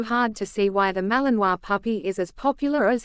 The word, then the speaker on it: Malinois: The Belgian Malinois, which is pronounced Malinois, is a medium-sized Belgian Shepherd dog.